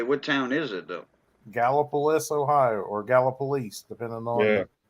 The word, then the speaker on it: Gallipolis: Gallipolis, Ohio, or Gallipolis, depending on.